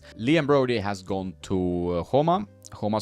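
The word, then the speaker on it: Joma: Liam Brody has gone to Homa Sport, pronounced in the Spanish way with the H for the J.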